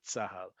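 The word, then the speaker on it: צהל: In Hebrew, we often, when we do pronounce the acronym, cuz again, as we said, it doesn't always happen. We do pronounce that as a word. We'll never spell it out. We'll instead say Tsahal.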